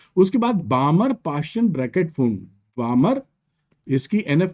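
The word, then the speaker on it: Pfund: और फिर होती है पास्चन, और फिर होती है ब्रैकेट, और फिर होती है पी साइलेंट है, फन कह लीजिए।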